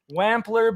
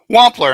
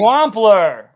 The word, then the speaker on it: Wampler: up that I was that I was pronouncing it wrong. I think I was calling you Jim W uh Wampler, but it's Wampler and I've been Wampler.